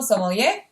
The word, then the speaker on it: sommelier: they're the new guy and he's a professional sommelier which i recently looked up am i pronouncing that right i believe so yeah that's